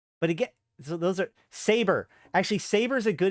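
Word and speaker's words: Sabre: know EV on line there's a lot of people that actually pronounce saber wrong until they're being until they're directly corrected um and uh the they even made a joke about this on the office because it's saber Corporation but they misread it because they took it out of context and they just called it Sab until they were corrected if you try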